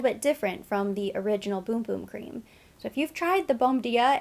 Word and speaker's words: Bum Bum: how you pronounce it boom boom i've been saying bum bum cream but they corrected us they said it's boom boom which i guess is how you say it in portuguese or that's how they